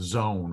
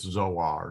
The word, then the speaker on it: Zoar: The ka ending here means as you go, by way of zone or toward. I'm sorry, it's Zoar, not zone, Zoar, which is the name of a city.